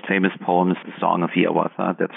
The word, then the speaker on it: Hiawatha: of his most famous poems the Song of Hiawatha that's how he wanted it to be pronounced published in 1855 within just a couple